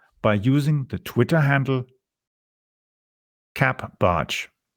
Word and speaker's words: CapBartsch: You can follow me on Twitter by using the Twitter handle capbarch. It's spelled CAPBARTSCH. Yes, that is CAP Barch, or spelled Charlie Alpha Papa Bravo Alpha Romeo Tango Sierra Charlie Hotel.